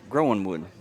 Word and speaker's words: Groenwood: from the coach, and the coach said it's Groenwood. Okay, all right. The internet was completely wrong. Yeah, I had asked AI how to pronounce it, and it tried to do the German thing where you made the W a V, but I guess AI and us were wrong.